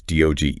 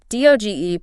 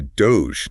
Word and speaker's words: DOGE: We've been getting a lot of questions about President Trump's DOGE initiative. DOGE pronounced like rogue, right? Exactly, DOGE, not Doge.